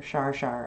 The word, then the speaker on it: char char: Another chatter is char char, or shar shar actually is how it's pronounced, but the spelling is like char char.